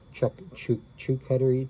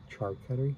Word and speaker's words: charcuterie: of cheeses on a chuckitter a chuckitteri I don't know if it was Beach life or who it was that told me how to pronounce that word charcuterie charcuterie board and then